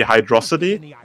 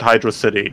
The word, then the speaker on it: Hydrocity: understand it as water-ness so uh based on that my pronunciation would be hydrosity but intuitively i always said hydrocity because that's how my brain interpreted the lettuce uh fuzzy says it